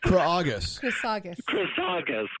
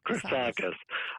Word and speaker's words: Chrisagis: So it's pronounced Chrisagis. Chrisagis.